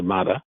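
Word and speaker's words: מדע: It's the prequel to Mada, by the way. I pronounce it ma.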